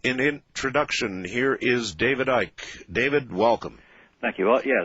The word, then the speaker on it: Icke: they called me um ike um dwight yeah i mean that you don't pronounce the c um actually funny enough